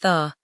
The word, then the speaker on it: thy: The possessive is often written as thy in local dialect writings, but is pronounced as an unstressed tha.